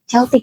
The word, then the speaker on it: Celtic: Tujuh anak itu adalah pertama ada Jamer yang jadi leluhurnya Turk, Armenia, Jerman, dan Celtic. Celtik ya bacanya yang sekarang wilayahnya mencapo Turki, Armenia, Jerman sampai Inggris dan Irlandia.